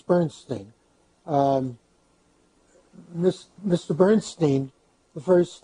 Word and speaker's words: Bernstein: Bernstein Bernstein none his you know there are two pronunciations of that name but Wells it's Bernstein miss mr.